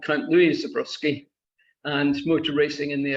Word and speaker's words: Zborowski: the audience, as it's this number, how you pronounce the name that's on screen. Oh, all of a sudden. Zborowski. It's Zborowski.